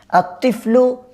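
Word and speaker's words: الطفل: আত্তিফলু জামিলুন, আমরা বলছিলাম এই যে তর আগে লাম আসছে সেজন্য এটা লেখায় আসবে কিন্তু উচ্চারণ হবে না।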